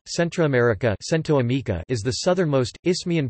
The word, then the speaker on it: Centroamérica: Central America Spanish, America Central, pronounced Amica Central, Centroamérica Centroamérica is the southernmost, isthmian portion of the North American continent, which connects with the South American continent on the southeast.